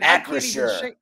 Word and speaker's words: Acrisure: Acrisure.